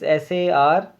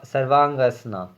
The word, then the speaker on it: Sarvangasana: It's Sarvangasana, Sarvangasana. Then Matsyasana, then Padan Ghusna. I will spell it for you, friends.